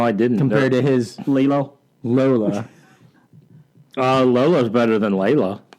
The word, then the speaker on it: Lilo: I said Layla. Yeah, it's from Collider. It's Lilo.